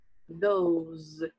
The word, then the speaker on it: those: E aqui também som de Z no final. Those.